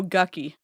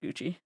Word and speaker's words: Gucci: Like, oh, Gucky. Like, I know it's Gucci. Oh, because I wait I was reading someone's I was reading someone's com comment. I know it's pronounced Gucci.